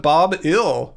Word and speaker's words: Bob Hill: onion stocks Bob Hill the H is Silent Bob ill well that's a good